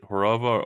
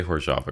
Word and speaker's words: Hořava: So yeah, Andrew studies correct me, is it Hořava or Hořava? I've heard both. I say Hořava gravity. Okay, because it's spelled Hořava, but Sergey calls it Hořava, and